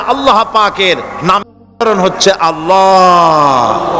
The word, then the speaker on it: আল্লাহ: পাকের নাম উদাহরণ হচ্ছে আল্লাহ মুখটা একটু গোল হয়ে যাবে বলেন আল্লাহ আল্লাহ পৃথিবীতে বিভিন্ন জাতি